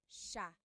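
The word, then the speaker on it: siya: to point out about sha first is the pronunciation it looks like it should be pronounced but it's actually pronounced sha sha so the s i y it's a sha sound sha And then another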